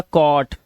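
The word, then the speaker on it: caught: इसे पढ़ेंगे क और जो हमारा जी एचटी है इसमें जी एच को हमेशा हम क्या रखते हैं साइलेंट रखते हैं तो हम क्या पढ़ते हैं सिर्फ टी को पढ़ते हैं तो ये हो गया कॉट ये कॉज नॉट नॉट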